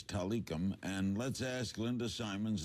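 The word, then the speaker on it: Tilikum: out of the woodwork correct pronunciation the whale's name is talikam and let's ask linda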